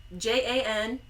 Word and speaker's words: Jan Hus: He's Czech, so I assume that it's pronounced Jan Hus. Jan Hus. That's kind of fun to say. Jan Hus. Okay, it sounds like you're saying young house.